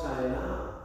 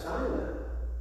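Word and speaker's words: Shinar: They built a tower of Babel, and the place was called China. Isn't that curious? It sounds like China, but it's spelled S-H-I-N-A-R.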